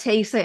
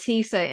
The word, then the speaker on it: theta: Like we go into the theta, or I think you call it, no, you call it theta in the US, we call it theta in Ireland. They're different pronunciations.